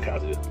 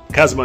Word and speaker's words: Kazuma: Konosuba is freaking Kazuya and okay, I said Kazuya, that's not taken. Keep saying his name wrong. Kazuma and Aqua, and it wasn't them.